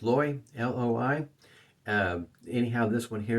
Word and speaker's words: Loi: I think you pronounce this as Loi, L-O-I.